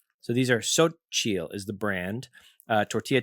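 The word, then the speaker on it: Xochitl: And then right under that it says pronounced Sochil. So, these are Sochial is the brand.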